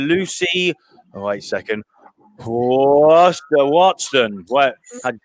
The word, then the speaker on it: Huartson: No, how do you pronounce your second name? Because it's Huartson.